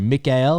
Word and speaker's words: Mikael: vertigo tricking please welcome to the jamcast Mr Mikel mantis what's up man what's up Travis happy